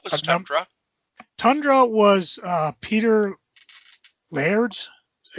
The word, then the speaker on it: Laird: Tundra was Peter Laird's. Is that how you pronounce his name?